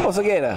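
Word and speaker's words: Osegueda: from the USA, the one, the only, Mark Oseguera. Yeah. Pronounce it for me. Pronounce it for me. Oseguera.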